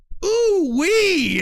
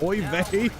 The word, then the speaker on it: oy vey: to the class, and she doesn't know how to pronounce it, so she goes, ooh wee. And the whole class busted up laughing, because we all knew she didn't know how to pronounce oy vey.